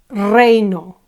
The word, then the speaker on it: reino: Tu reino. Reino ends with a vowel, and the penultimate syllable is accentuated, rey, reino.